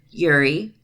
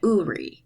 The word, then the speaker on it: Uri: Living in a polyamorous family are Yuri, Lucas, Ava, and Yana. Make that Uri is the correct pronunciation.